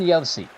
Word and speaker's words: Josi: Roman Josi, from a country where they pronounce J's like Y's, as Ottinger preserves the shutout.